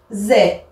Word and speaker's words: faisais: de la même façon je vois ai mais j'entends eux je m'explique le radical ce sera toujours le même F partout toutes les personnes sauf que ici je dis je vais pas dire fait en fait même si c'est avec un aïe je vais devoir dire feu je faisais après j'ajoute les terminaisons